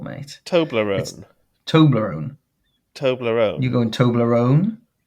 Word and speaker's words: Toblerone: Emma says I mispronounced Toblerone. She says I put the emphasis in the wrong place. How would you say it again? Toblerone. Yeah, you are. You're putting the emphasis on the wrong syllable, mate.